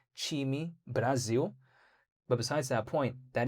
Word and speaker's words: Time Brasil: Did you know that Cardano, in terms of the foundation, recently posted how phase one of their partnership with Time Brazil, but it's actually pronounced Time Brasil.